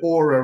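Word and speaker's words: Oura: me what this is you spell it o-u-r-a uh the aura ring we have no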